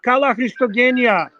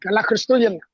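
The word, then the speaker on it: Καλά Χριστούγεννα: What So I watch can did you pronounce pick up? What watch did you pick up? Show us the watch. Kala Christogenia. Kala Christogenia. Yes, that's exactly how you say it. Kala Christoyan.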